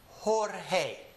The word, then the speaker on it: Jorge: So anytime you see a word that starts with the letter J, remember that it is actually an H. That's why we have names like Jose. Jose starts with an H, right?